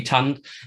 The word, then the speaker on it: tand: Sorry, Norwegian would be tand, and Danish is ten. Right. And it's also fronted, but the N is still there, and it's basically written T-A-N-D. So the D is silent, which is also a